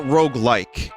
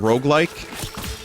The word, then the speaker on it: roguelike: why we went with roguelike it's two syllables and the word rogue based on the game rogue where you die and